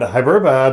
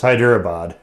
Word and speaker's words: Hyderabad: This is from Hyderabad, and Hyderabad is, sorry, I'm pronouncing it wrong. It's Hyderabad. This is in India.